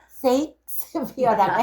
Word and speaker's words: 셰익스피어: 왜냐면 셰익스피어는 섹스라고 하면 안 된대. 셰익스피어라고 해야 되는데 그래서 제가 발음하는 걸 조심하는 거예요.